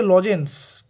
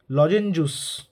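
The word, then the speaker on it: লজেঞ্জুস: বাট রূপকথায় বর্ণনা রয়েছে আমরা যে লজেন্স বলি এর সঠিক বাংলা উচ্চারণ বানান কি লজেঞজুস ঠিক আছে লজেঞজুস তো এই কোশ্চেনস গুলো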